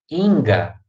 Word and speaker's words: Inga: da guarita neve então nome do gênero bem da vida inga põe a tônica ninho tinga bom segunda-feira simplesinho beleza outra